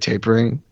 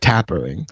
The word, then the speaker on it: tapering: Now that you said the word tapering, Yeah. I know what that word. I've seen it before, and I've always pronounced it tappering. Oh yeah, you're So wrong.